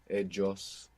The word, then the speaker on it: ellos: You might hear like a J kind of sound in Colombia, ellos. But in the great majority of Spanish-speaking world, double L and Y make Y.